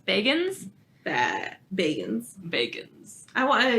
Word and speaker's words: Bagans: vegans I wanna yeah I said we said Baggins for so long and I was like we finally listened to him pronounce his own name it's like oh wait it was like wow this is better yeah would you want to